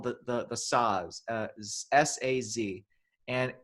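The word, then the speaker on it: saz: there's also it's also called the the the size uh s-a-z and it's it's got it's it's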